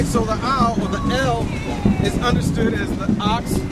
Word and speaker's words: El: Many Near Eastern cultures worship the al, most commonly pronounced as El, and depicted as a bull in carvings and statues.